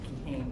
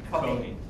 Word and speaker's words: Cohen: So I'm sorry, I should have called you Attorney Kehane, but I can't pronounce your last name. Kehane? Cohen? Cohen. Yeah. Cohen, so the E is silent.